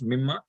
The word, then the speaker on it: مِمَّا: The noon gets, the noon is a noon sakin, that's why there's an idgham there, and that's why it is pronounced as mimma, and the noon is not written here.